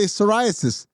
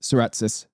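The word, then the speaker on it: Saratsis: Last name I cannot pronounce, so I always say psoriasis, even though I know that's not how you say it. Serretis.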